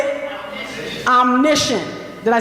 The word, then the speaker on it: omniscient: And the first perspective is, I'm going to try it, omniscient.